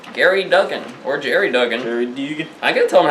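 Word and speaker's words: Gerry Duggan: Jerry Dugan. I gotta tell him how to pronounce his name.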